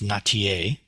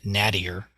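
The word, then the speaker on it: Nattier: her name is pronounced notier I I would being being from the Midwest I would pronounce it nadir uh n-a-t-t-i-e-r but John notier uh she's a really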